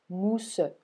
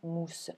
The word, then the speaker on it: mousse: Or, lorsque je prononce ce vers, je ne dis pas mousse, je dis bien mousse. Ce qui fait que tout ce mot constitue une seule syllabe à l'oral.